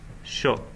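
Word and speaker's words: しょ: And here, with the little yo, yeah, it's not pronounced shio, it's pronounced sho. Yeah. So it becomes kind of an extension of the shi, and it's changing it, changing the sound.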